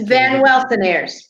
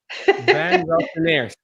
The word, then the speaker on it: Van Welsenaers: And my last name is pronounced just as it's spelled. It's just long. It's Van Welsenaers. I cannot even spell it. No, it's it's an easy long name. Van Welsenaers.